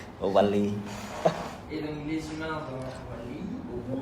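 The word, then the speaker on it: WALL-E: C'est ma prononciation qui n'est pas bonne. C'est ça le le mot français. En français, c'est Wali. Wali.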